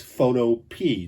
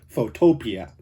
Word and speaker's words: Photopea: last video i found out that the correct pronunciation is photo p not photopia sorry about that i guess you learn something